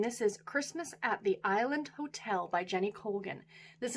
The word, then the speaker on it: Isla: opening up on the island. And this is the story of a woman by the name of Isla, I-S-L-A, I think is how you say her name.